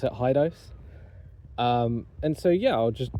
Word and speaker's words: Hidoes: Some people I've known have pronounced it Hideos. I choose to pronounce it Hidoes.